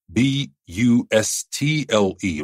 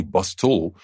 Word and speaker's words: bustle: for our next word bustle b u s t l e remember the t is silent we don't say bustle we say bustle so as soon as